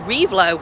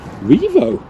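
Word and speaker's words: Rievaulx: to this one well I've always said revlo I don't know why I put the LX the V so I'm going to go with Revo it's actually Revo sounds better to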